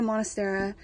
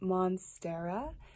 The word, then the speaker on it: monstera: my goodness this beauty I've always wanted a monastery and this is only one had and it's huge and beautiful amazing so I'm going back through and doing my video edits and I noticed it's pronounced monstera not Manas Tara I mispronounced it the entire